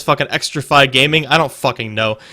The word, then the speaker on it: Xtrfy: I'm saying it's fucking Extrafy Gaming. I don't fucking know. It's spelled XTRFY.